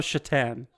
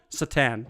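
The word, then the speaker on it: Šatan: to the next one Miroslav Satan Miro Miroslav chatan Satan Satan I always did the S like so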